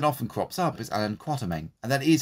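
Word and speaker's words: Quatermain: crops up is iron quartermen and that is how you pronounce it not quarter main there's no R in that part so it's pronounced quat as in kumquat created by H Ryder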